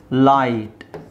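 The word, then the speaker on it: light: ಬರಬೇಕಲ್ವಾ daughter daughter ಇದೇನಾಗುತ್ತೆ ಲೈಟ್ ಗಮನಿಸಿ ನೀವು ಬರೀಬೇಕಾದರೆ ಬರೀಬೇಕು ಹಾಗೆ ಬರೀಬೇಕು ಸೈಲೆಂಟ್ ಲೆಟರ್ ಹೇಳಲಿಕ್ಕೆ ಮಾತ್ರ ಬರೀಲಿಕ್ಕೆ ನೀವು ಲೈಟ್ ಅಂತಾನೆ ಎಲ್ ಐ ಜಿ ಎಚ್ ಟಿ ಅಂತಾನೆ ಬರೀಬೇಕು ಲೈಟ್ ಬದಲು ನೀವು ಸೈಲೆಂಟ್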